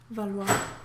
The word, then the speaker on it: Valois: Valois.